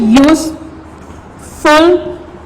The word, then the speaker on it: useful: 11th, useful. What we write there, useful book. The word useful is start with the vowel. Start with vowel U, but it's not sound. It's not give the sound of vowel of alif.